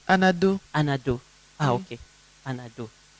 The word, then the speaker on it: Anado: Non, c'est pas bien prononcé. Anado.